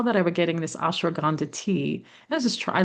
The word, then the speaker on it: ashwagandha: Like I love ashwagandha.